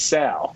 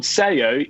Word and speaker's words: Sao: I found the boat, and the spelling for the boat is as if you were saying Sao Paulo. So it's Sao. So the biscuit that we all thought was called Sayo is Sao.